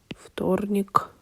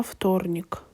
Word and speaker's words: вторник: And guys, don't forget that here in this word we will not say вторник, we need to say вторник because the voiceless sound T gives its features to the previous letter.